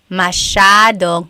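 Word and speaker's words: masyado: of people Elijah said how do you pronounce mashad mashad means a lot so the s y a is a shaa sound mashad yep EJ said miamii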